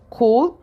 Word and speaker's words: could: Acuérdate de la pronunciación de esta palabra could. Could. Así, pronunciación. Lo pongo entre comillitas. Porque a veces se confunde con la palabra frío, cold.